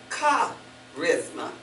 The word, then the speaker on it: charisma: Then I saw another word here, charisma. You've heard that word before. It's spelled C-H. But we say charisma with a K. Sounds like a K.